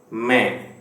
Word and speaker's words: मैं: Okay, you can pronounce this like May 2, April, May, June, May, but मैं, मैं, मैं.